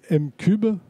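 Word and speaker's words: M'Cub: Votre agence s'appelle M-Cube. Oui, c'est comme ça qu'on prononce.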